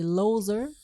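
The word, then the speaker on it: Loeser: C'est alors que le docteur, je ne sais pas comment ça se prononce, L-O-E-S-E-R, pas loser, là, c'est loser.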